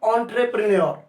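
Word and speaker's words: entrepreneur: दोस्तों इसको एंट्रे मत बोलना, इंट्रे मत बोलना, इसको ऑ से प्रोनाउंस करते हैं।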